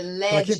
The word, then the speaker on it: LEDS: que tá no Instagram, tem também no Facebook, no YouTube, eh, Leds, para quem para quem ficou em dúvida, LEDs é como se fala, tá? L E D I S.